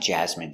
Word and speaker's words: jasmine: I don't like jasmine tea. It's not my favorite. Jasmine. Pronunciation, jasmine. Ja. Z. Jazz. Jazz. Jasmine. Jasmine. Jasmine. Jasmine. Jasmine. Stress the first syllable.